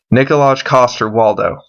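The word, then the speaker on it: Nikolaj Coster-Waldau: at the this guy's name is hard to pronounce but nikolaj cost her Waldo there we go now I know he's Jamie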